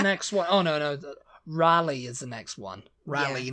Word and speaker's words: Raleigh: yeah that's the next one oh no no Raleigh is the next one Raleigh North Carolina which